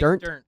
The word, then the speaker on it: Dirnt: Is it Mike Dernst or how do you say his last name? Mike Dirnt.